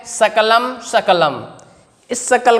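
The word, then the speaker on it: सकलम्: तो यदि हम व्याकरण नहीं पढ़े होंगे, वर्णों का उच्चारण हमें नहीं आता होगा, तो हम सकलम को शकलम पढ़ेंगे, सकलम को क्या पढ़ेंगे? सकलम।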